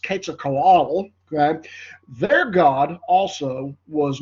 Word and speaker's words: Quetzalcoatl: They went to great pains to try to keep them alive if possible, because their god, and this is pronounced Quetzalcoatl, okay, their god also was nourished by blood sacrifice.